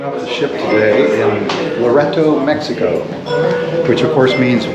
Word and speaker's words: Loreto: Now, I know some people pronounce it Loreto, but I'm going to say Loreto all day long.